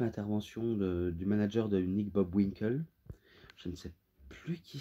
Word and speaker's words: Bockwinkel: Hulk Hogan contre Nick Bockwinkel. Oh non, qu'est-ce que je le prononce mal. Nick Bockwinkel.